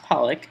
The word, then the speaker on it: Pollock: Well, I mean, it's pronounced Pollock, but okay.